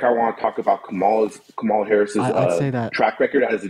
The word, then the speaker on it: Kamala: Also, her name is pronounced Kamala.